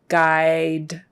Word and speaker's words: guidelines: Forget the U. It's a long I. Guidelines. So 2 long I's in those 2 syllables. Guidelines. And the S at the end is a Z.